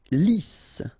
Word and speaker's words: lisse: Lisse, double S here, so it's really a strong S, lisse, okay, don't insist on the final E, lisse.